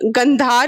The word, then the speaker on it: गंधार: सारा हिंदी वर्ड है, हिंदी की तरह ही प्रोनाउंसिएशन करेंगे इसका, उसको बिगाड़ेंगे नहीं, ठीक है।